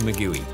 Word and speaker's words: maguey: But we insist it should be pronounced Maguey.